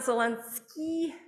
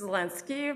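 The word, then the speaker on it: Zelensky: bit closer um and it's not zelenski it's lenski but that's okay and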